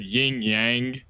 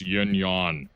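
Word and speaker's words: yin-yang: By the way, I've always said yingyang and then I said it and like actually it's yinyan. That's that's how they pronounce it or whatever.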